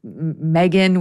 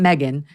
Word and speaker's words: Megyn: Sometimes I say Megyn, which is kind of close. It was more in between Megan and it's not Megan.